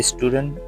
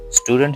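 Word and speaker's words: student: स्टूडेंट जिसमें आई extra लिखते हैं। तो ये करेक्ट क्या है? इसका स्टूडेंट है।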